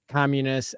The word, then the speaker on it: Communis: has I believe named Communists after the this idea of community tell us more yeah and if we could just um correct the uh pronunciation it is communist Community communist Community communist commun all